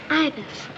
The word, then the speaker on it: ibis: it it's i b i n ibus yes ibis tell me something kitty where did you learn